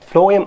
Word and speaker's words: phloem: Phloem அப்படிங்கிறது food conducting complex tissue. Phloem அந்த pronunciation பாருங்க F phloem னு வரும். Food first letter அந்த pronunciation food phloem ஞாபகம் வச்சுங்க.